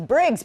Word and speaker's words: Briggs: oh like Shia Twain When I say my name is Briggs people are like what and then I have to and then I say it again they're like what and I'm like like Briggs and Stratton you know need something